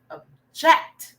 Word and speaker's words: object: Object versus a while back, it's a verb, object. So the stress is more on the jet, not the object, okay?